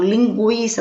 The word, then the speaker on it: linguiça: Linguiça, não é linguiça, é linguiça.